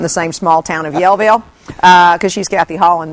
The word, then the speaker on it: Yellville: find us Yellville oh Yellville hey it's it's pronounced Yellville thank you very much yville yville amen sister